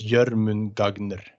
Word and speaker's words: Jörmungandr: I try to pronounce it just as it says here, it's the O with the 2 dots. It's Oh, sure. yeah, so it's Jörmungandr, and we have we have more like sharp letters, you know.